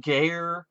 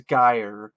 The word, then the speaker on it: Geyer: Morell as Ronnie Dean G as Jonah yes his name is G maybe I said it wrong it's guy but it's GE ye R might as well be